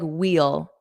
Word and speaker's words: we'll: And Ahmed, some people pronounce it like wheel, wheel, wheel. That's a more stressed version.